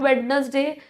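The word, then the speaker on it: Wednesday: Sunday, Monday, ट्यूसडे, वेडनेसडे, Thursday extra बेटा this is नॉट वेडनेसडे। This is वेडनेसडे। Over here D is silent.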